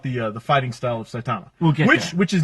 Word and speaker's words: Saitama: and poor poor Saitama I always pronounce it Saitama it's site to my accent accent is on the first syllable like that well no